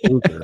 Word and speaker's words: Fluker: DJ Fluker. Yeah, I was saying his name. I was calling him DJ Flucker, and everyone's like, "It's not Flucker, it's Fluker."